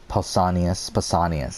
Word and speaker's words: Pausanias: And I feel like you also got Jacques de Morlaix, Pausanias, that's how you pronounce it.